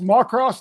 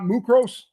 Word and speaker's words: Muckross: So it's pronounced Macross, not Mucros.